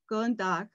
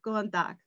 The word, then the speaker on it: góðan dag: It's always good day, góðan dag, good day, góðan dag, góðan dag, góða nótt.